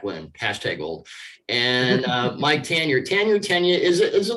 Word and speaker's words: Tanier: And Mike Tanier. Tanier, is it like Carmine Appice and Vinny Appice with you, or Kelsey and Kelsey? Is it Tanier?